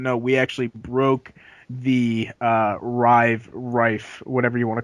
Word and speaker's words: Rive: Anyway, back on Indie Watch, we also have, and we're not pronouncing it right, Rive, which the Two Tribes Twitter said it was Rife, which is the new